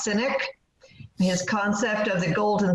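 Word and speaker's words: Sinek: Mead speak on Simon I think it's pronounced cynic his concept of the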